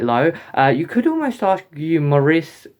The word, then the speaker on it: Maurice: You could almost argue Maurice, is how you pronounce his name, is like in quite